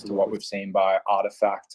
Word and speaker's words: RTFKT: what we've seen by artifact or rtfkt if you don't know that they're pronounced like that i didn't until recently